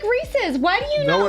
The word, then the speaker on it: Reese's: Or Reese's. Pieces. Yeah. Reese's Pieces. Reese's Pumpkins. Thank you. You were about to say Reese's Pieces. Reese's Pieces. Reese's Pieces. Reese's Pieces. Just remember, if it rhymes with feces, it's not how you not.